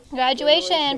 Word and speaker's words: graduation: what is this word graduation peyton spell it for us good circle the special sound shun t-i-o-n go ahead and circle that with your pencil t-i-o-n says shun in graduation say that with me